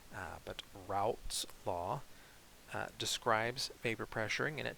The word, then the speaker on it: Raoult's law: lowered is called uh raoult's law and i think i'm pronouncing that correctly if you anyone knows a better pronunciation feel free to let me know but route's law describes vapor pressuring and